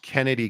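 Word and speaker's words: Chennedy: that uh you know shinned it's pronounced Kennedy Carter um angel I and again I'm I mean I'm I'm just over here uh shenn call me Kennedy played 28 minutes you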